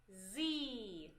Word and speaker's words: sie: Sie. In the beginning, S can be pronounced differently. If we have a vowel after it, we pronounce it like Z. Sie.